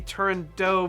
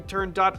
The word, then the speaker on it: Turandot: there's a debate okay the name is Persian but it's an Italian opera written by Puccini Persian pronunciation might be turned dough but the Italian pronunciation we turn dot I don't know I